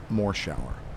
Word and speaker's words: Morshower: And from that point on, which was when I was 16 years old, people read the credits and they then said more shower.